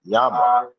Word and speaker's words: Jama: Jama, Spanish, pronounced Yama.